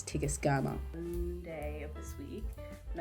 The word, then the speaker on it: Tigest Girma: So I just finished reading Immortal Dark by Tigma Grema. I just went on her Instagram. This is voice over and the correct way to pronounce the name is Tigus GMA Monday of this week